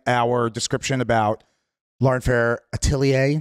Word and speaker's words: Atelier: And yeah, so check out all the stuff in our description about Lauren Fair Atelier. Did I pronounce that right? You did. It's French.